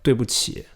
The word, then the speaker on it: 对: Oh, I'm sorry, 对不起. Notice that 对对, D-U-I. It's pronounced 对. It's almost like D-W-A-Y.